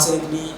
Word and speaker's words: सोन: तो होता है क्या है कि हिंदी में अगर हम पढ़ते हैं तो हमारा उच्चारण सही रहता है उन चीज़ों को लेकर। जैसे कि सोन नदी है, तो सोन नदी को इंग्लिश में लिखा जाता है SONE।